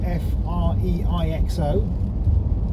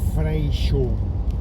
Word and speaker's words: Freixo: Now it's spelled F-R-E-I-X-O, but you actually pronounce it Freixo.